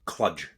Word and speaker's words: Cluj: money for He joined them from Cluj, FC Oh, aye. Cluj, formerly of... Gregory Taddy fame. Exactly. And it's also, So- it's pronounced Cludge.